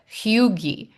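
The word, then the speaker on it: hygge: But hugi is that word h y g. That's how you say it.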